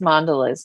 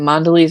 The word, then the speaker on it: Mondelez: well it wasn't hibiscus but I think it's Mondelez now oh I don't know the second word it's a Giant Food corporation that owns um many brands of different foods but I'm pretty sure it's Mondo and Mondelez or Mondelez however you want to pronounce it